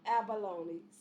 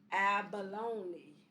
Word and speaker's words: abalone: The loan in abalone sounds like the word bony. Say it out loud. It rhymes with baloney. So let's say it. Abalone.